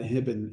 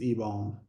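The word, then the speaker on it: Hibon: until like a year we always called him Ben hibbin and then in an interview he's like it's ebone like Ben why have you let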